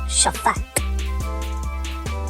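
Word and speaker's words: שפט: That is Shaphat. It is spelled Shin, Pei, Tet.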